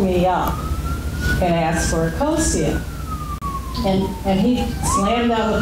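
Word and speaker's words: Akosua: I pronounce it Akosia.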